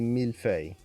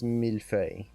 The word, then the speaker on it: millefeuille: sound in there, because it seems like it's not that hard, millefeuille. But then when you try to actually make the sounds, there's like a little lilt in there that's very slight, but most people can't quite get if you haven't spoken a French-like language before.